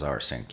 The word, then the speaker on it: rsync: little differently here but this R sync is our sync remote sync this normally is making